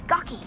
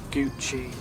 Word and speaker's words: Gucci: My watch is gucky. It's pronounced Gucci.